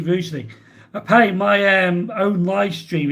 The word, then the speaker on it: Rugeley: Jeff wanted to pronounce Rugeley with a hard G. Yeah, some people sometimes say Rugley or Ruggly. But it's actually Rugeley.